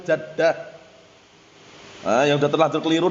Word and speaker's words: jaddah: Mafhum naam bacanya bukan jiddah tapi jaddah.